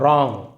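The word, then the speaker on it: wrong: यहाँ पे डब्ल्यू आर में डब्ल्यू साइलेंट रहता है, इसको आपको बाद में बताऊंगा साइलेंट लेटर कौन कौन से है। इसे हम पढ़ेंगे आर के साथ र और ओंग, रॉन्ग, गलत, रॉन्ग गलत।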